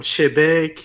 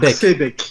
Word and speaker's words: Xebec: Non, pas Shebec, X. Ah, Xbec. Attends, tu m'as pas laissé finir. X bec. Voilà, il y a une pause entre les deux frérot.